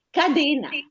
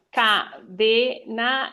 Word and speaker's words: cadena: Cadena. Ah, cadena. Sì. Allora, cadena è accento aperto. Cadena, cadena chiuso. Avrei detto cadena. Invece No, cadena chiuso.